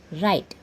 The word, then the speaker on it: write: There W is silent letter.